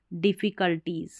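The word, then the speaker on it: difficulties: DIDFFIE, कल, CUL कल, और टीज डिफ़िकल्टीज।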